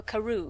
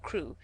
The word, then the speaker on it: Crewe: Madame Pascal pronounced it as if it were Carew instead of Crewe, but that might be merely a matter of pronunciation.